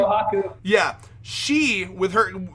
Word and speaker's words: Kohaku: How do you pronounce her name? Kohaku.